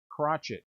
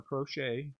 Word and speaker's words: Crochet: but not least crotchet crotchet or crochet whichever one you whichever way you like my last name was crochet hour pronounce the crotchet a little more manly to me but here's